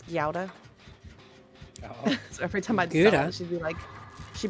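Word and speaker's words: Gouda: pronunciation of uh cuz in America we call it guda cheese, but it's gauda.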